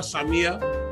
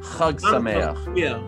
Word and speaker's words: Chag Sameach: Happy Hanukkah, Samia. Yeah. You like that? That was good. That's not bad. That's close enough. How do you say it? Chag Sameach. Sameach. Not only. Sameach. There you go.